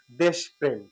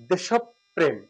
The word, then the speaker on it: দেশপ্রেম: এবার এই শব্দটা আমরা সচরাচর বলে থাকি যে দেশপ্রেম কিন্তু সঠিক উচ্চারণটা হচ্ছে দেশব প্রেম দেশব প্রেম এখানে একটু বোঝাই এটা হচ্ছে দে